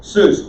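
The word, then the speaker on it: סוס: spelled sonic schulrich sonic seuss say that with me seuss suits dr seuss dr horse very easy it's pluralized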